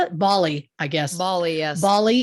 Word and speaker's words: Bali: Bali, I guess.